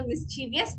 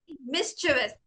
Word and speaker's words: mischievous: Yeah, നമ്മൾ എല്ലാവരും അതിനെ മിസ്ചീവിയസ് എന്നാണ് പറയുന്നത്, ബട്ട് ഇറ്റ്സ് ആക്ച്വലി മിസ്ചിവസ്.